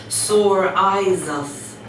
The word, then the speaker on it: psoriasis: understand my daughter has psoriasis she says and she pronounces it slowly for them sore eyes us it is a skin